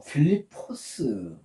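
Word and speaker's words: Φίλιππος: 여기 좀 어 여백이 좀 좁아서 이렇게 적어 놨는데 어 필리포스 헬러로 하면 필리포스입니다.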